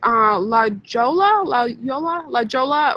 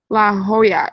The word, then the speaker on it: La Jolla: Check out La Jolla when you're down by San Diego.